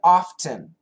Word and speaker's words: often: Anton, should I pronounce the T in often? You can. We do both.